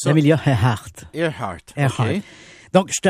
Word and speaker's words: Earhart: Comment tu prononces ça? Amelia Earhart.